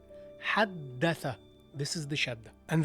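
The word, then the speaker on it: حدّث: It's not حدث, it's حدث. You stress the letter. Whenever you see this, you stress the letter. حدث.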